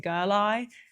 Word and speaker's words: girli: But then I also realized later down the line, some people would pronounce it girl eye. And I thought, oh, it's like girl eye or something. So I was like, kind of works both ways.